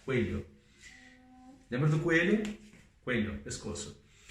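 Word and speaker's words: cuello: Lembra que 2 L's é som de LH, coelho.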